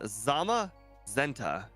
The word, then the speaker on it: Zamazenta: running backport Series in Crystal today we have Zama zenta yep I think that's pronounced that is correct yeah this was a